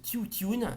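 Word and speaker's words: Тютюн: Ensuite, Le tabac, en bulgare traditionnel, ça se prononce Tiutune de Nicolas Korabov, sélection officielle et compétition au Festival de Cannes 1963.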